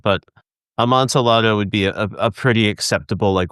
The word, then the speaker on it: Amontillado: The double LY sound.